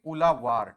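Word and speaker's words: Uzhavar: वहां पे जेड एस को हम एल से प्रोनाउंस करते हैं। ठीक है ना? तो यहां पे उलावार यू जेड जेड एच लिखा जा रहा है। हम लोकल भाषा में उसे उजावार भी बोल सकते हैं। बट इफ यू see that would be उलावार। ठीक है ना? तो इसे आप क्या बोलोगे? उ द वार आप बोल रहे हो। और एक्चुअली इसे कैसे प्रोनाउंस करोगे? उलावार।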